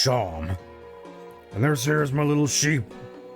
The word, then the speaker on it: Seam: But aim seam, pronounced sham.